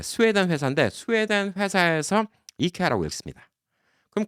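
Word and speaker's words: IKEA: 이케아가 맞는 거예요, 원래. 왜? 만든 회사가 이케아라고 하니까. 게다가 뭐 다른 나라에서 다 이케아라고 하니까 이케아가 맞는 건데 한국 사람들이 이제 원어 발음을 해주죠. 예, 이케아라고 적고 이케아라고 읽습니다. 그러면 이제 교민들이 굳이 갖고 이걸 아이케아라고 얘기를 해요. 예, 이케아 틀린 발음이야, 아이케아. 예, 근데 교민분들도 이 우물안 개구리가 많아요. 전 세계를 다녀봐야 아는 거예요. 아이케아가 사실 틀린 발음이에요.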